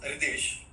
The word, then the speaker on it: Ritesh: Uh, The pronunciation is Ritesh, but you can call me.